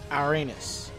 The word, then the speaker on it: Ouranos: to upgrade Irenaeus yep I said it right Uranus oh you are a n OS I bet